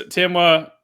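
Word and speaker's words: Temwa: But yeah, that's and Barbara Banda and Timwa. Did I pronounce that right again? Okay. You got it. Yeah. It's Timwa, Barbara Banda, Sophia Smith, and obviously I'm saving the best for last, Trinity Rodman.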